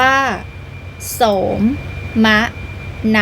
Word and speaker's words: โสมนัส: ผลัด 4x 100 เมต โสมนัส อ่าน ว่า โสม มะ นั หมาย ถึง ความ สุข